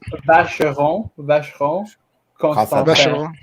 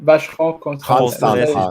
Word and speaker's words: Vacheron Constantin: Vacheron Constantin. You gotta say it fast. Just say it's a con. It's a con job. French people say it like that. Right. Vacheron Constantin.